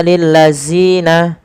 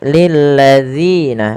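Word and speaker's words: الذين: Kemudian balafal lil ladzina, panjangkan zi sepanjang 2 harakat dan hati-hati dalam melafalkannya, jangan sampai terganti dengan huruf zai. Jangan kita baca lil ladzina, akan tetapi lil ladzina, zina.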